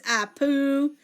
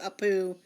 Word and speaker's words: Apu: misspelled there it is I poo which is spelled APU and Shana Bowser got it correct but Shana Bowser got it correct with APU a poo if you could spell